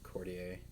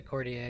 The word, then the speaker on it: Courtier: bit hard to get i pronounce it cortier yeah um i'm not sure if that's the correct pronunciation i've also heard courtier but i think that's wrong it depends how french you want to be cortier is like half halfway there um so